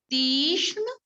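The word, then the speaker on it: Tikshna: Second, Tishuna. Pronunciation, pay attention towards it. Visham. Second, Tishna.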